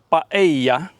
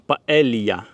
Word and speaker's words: paella: Паею, назва її Паея, але мабуть через двійне л в назві транслітерація в Україні є як паелія, але двойне л в Іспанії читається як й, тому це є паея, так само як місто, наприклад, Севія, а не Севілья. І острів Майорка, а не Мальорка.